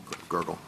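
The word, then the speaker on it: Gergel: I mean at trial judge Gurgle is that the correct pronunciation of his name? Gurgle. Um it is Judge Gurgle. Yes.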